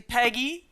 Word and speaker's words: Peigi: introduction of myself um my name is actually Peggy nobody get it right uh because it's spelled in this very strange way um I'm from Scotland so it's gelic um so yeah I